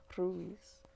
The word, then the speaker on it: Ruiz: don miguel ruiz ruiz if you guys want to roll your r's you got to breathe out when you do it and you kind of like put the tongue to the roof of your mouth behind your teeth and you just kind